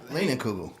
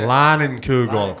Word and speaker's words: Leinenkugel: Leaning Kugel. Yep, that's it. Leinenkugel.